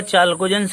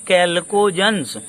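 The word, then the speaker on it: chalcogens: अब देखिए लिखा हुआ चाल्कोजन्स है, लेकिन बोलते हैं कैल्कोजन्स।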